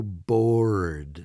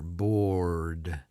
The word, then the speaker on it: bored: to tell the difference we might say I'm so bored we kind of extend it out a little bit the r sounds longer bored whereas when you're working